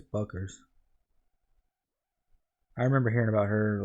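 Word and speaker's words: Bueckers: I think it's Buckers.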